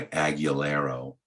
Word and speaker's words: Agugliaro: He goes by Aguilero, but it's, I guess it's spelled Agugliaro.